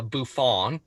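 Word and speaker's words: bouffon: is a bouffant and is that how you say it well yeah like uh buffon um is a grotesque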